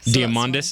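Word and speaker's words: Diamandis: something weren't you um my surname is basically diamond in Greek damis is that how you pronounce it yeah exactly nice very cool stuff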